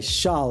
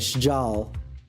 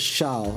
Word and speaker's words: Shal: Okay, Shal is how you pronounce that. I was saying like Sjal. But Shal, okay.